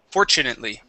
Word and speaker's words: fortunately: of saying for fortunately we want to replace the T with the CH Fort fortunately fortunately fortunately very good